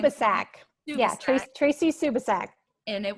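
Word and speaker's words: Subisak: Can you pronounce her last name? Subasak.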